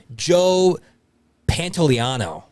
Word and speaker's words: Joe Pantoliano: Joe Pantoliano.